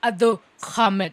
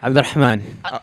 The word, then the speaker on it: Abdurrahman: His full name is Abdurhamid. It's not Abdurham. It's a. There's no kha in it. How do you say? You say your name. Let him say his name right. Say your name right. Abdurrahman.